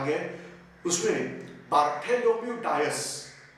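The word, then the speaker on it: Dias: उसमें बार्थेलोम्यू डायस या बार्थेलोम्यू डियास, एक हमारे पोर्तुगीज दोस्त है, वो बोलते हैं कि ये प्रोनाउंसिएशन डायस नहीं है, डियास करके बोलते हैं।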